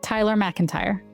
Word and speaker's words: Tyler MacIntyre: Did I say it right? Tyler MacIntyre. Yeah, that's correct.